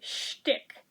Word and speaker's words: shtick: Frosty Lip Balm in Peppermint Shtick. Yes, with an H. Yes, like how Liza Minnelli would pronounce it.